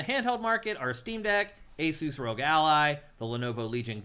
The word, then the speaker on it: Asus: Asus is is what they said is the correct pronunciation, as I recall.